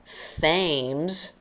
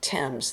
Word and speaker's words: Thames: though it looks like Thames with a th sound it's like the name of a boy Tim with a z Thames the River Thames go figure it's British